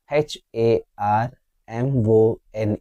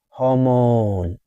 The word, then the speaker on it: hormone: H A R M O N E. Is it harmon? It's incorrect. Hon is silent. Ha. Hormone.